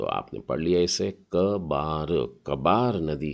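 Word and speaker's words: כְּבָר: तो इसमें है काफ, और नीचे दो बिंदु है, मतलब उच्चारण क है, और बेत के नीचे आ की मात्रा है, मतलब हो गया बा, और आखिरी अक्षर है रेश।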